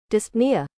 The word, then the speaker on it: dyspnea: Pronunciation. Dyspnea.